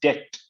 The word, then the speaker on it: debt: जी, और इसमें DEBT में बी साइलेंट होता है, इट इज डेप्थ नॉट डेप्थ।